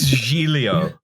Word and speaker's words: Giglio: island of giglio i don't know what the actual pronunciation sure it's julio julio i'm certain but giglio is much funnier